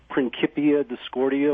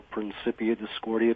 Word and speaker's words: Principia Discordia: and in the uh prinkipia discordia or principia discordia people uh pronounce it different ways um it talks the